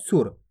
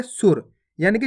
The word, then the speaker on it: सुर: अगर बोलते सूर तब बड़ू ऊ की मात्रा का उच्चारण होता इस प्रकार से सूर। अपन बोल क्या रहे? सुर, यानी कि जल्दी से उच्चारण हो रहा देखो सुर, तो इस प्रकार से लिख देंगे अपन।